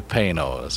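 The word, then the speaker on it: Panoz: And we were taught that by Panos. It's P-A-Y-N-O-Z is the correct pronunciation, but the spelling is P-A-N-O-Z.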